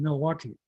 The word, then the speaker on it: Milwaukee: And so that's how we used to pronounce it, but we didn't really have an L sound in our language, so Minnow-Aki became Milwaukee.